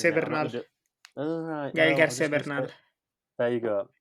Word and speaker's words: Gael: And knowing that the actor, Gail, I'm going to pronounce García Bernal. Gael García Bernal.